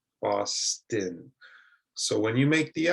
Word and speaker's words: Boston: It's also common in some city names. For example, I live in Boston. Boston.